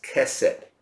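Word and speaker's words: chesed: kind of I give you the word we pronounce it as Cosette but it spelled c-- h e s e d casa can mean love but in when you say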